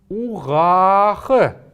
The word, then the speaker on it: угах: Вот здесь есть прям явный неясный звук, а вот этот звук А, он протягивается немножко дольше, чем обычно.